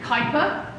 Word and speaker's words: Kuiper: And they're named after a Dutchman called Kuiper, rhymes with viper, who came up with this idea that there were objects in the outermost part of the solar system.